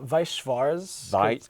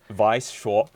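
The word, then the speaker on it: Weiß Schwarz: how do you say this how do you pronounce this it's uh vice schwarz vice shaw yeah because the germans turned out you learned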